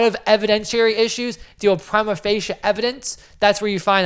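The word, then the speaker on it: prima facie: at the different courts Prim of fasia Prima fascia that's how you pronounce that is at face value so a lot of evidentiary issues deal with Prima fascia evidence that's where you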